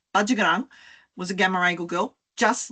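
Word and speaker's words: Patyegarang: Now, you might know her as Pachagarang, but it's not how we pronounce her name. Bajagarang was a Gamaragal girl, just like Barangaroo, and she and Dawes recorded language.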